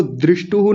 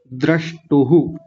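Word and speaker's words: द्रष्टुः: तो दृष्टुहु नहीं बोलना, जैसा लिखा हुआ है वैसा ही बोलना है, द्रष्टुहु, ऐसा द्रष्टुहु।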